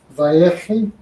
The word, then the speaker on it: Vayechi: So this is Parsha 12, Vayechi, he lived.